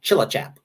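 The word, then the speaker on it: Tjilatjap: where they went uh it's called chillichap tj in dutch is sort of the equivalent of ch and uh that was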